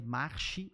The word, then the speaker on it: Marchi: A gente pronuncia March, mas é Marchi, M-A-R-C-H-I, _ oficial.